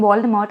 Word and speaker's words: Voldemort: Coming to Lord Voldemort, apparently the T in Voldemort is silent. So it's Voldemort.